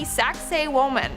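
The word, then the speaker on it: Sacsayhuamán: yet in our fourth spot we have the saxay woman and I know what it sounds like but that's how you pronounce it so just I know I know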